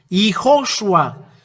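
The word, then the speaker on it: יההוֹשֻׁע: This is the way to read this. YAHHOSHUA.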